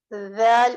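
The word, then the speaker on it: ذ: So these 3 letters will be pronounced: Tha, Zal, and Gha.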